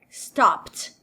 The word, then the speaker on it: stopped: Então, verbos terminados em P, ao levarem o ED, esse ED não vai ter o som de id, vai ter som de T. Stopped.